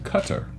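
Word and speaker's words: Qatar: it's not it's not guitar guitar some people say guitar but they actually said that's very far removed from being the right way to say it so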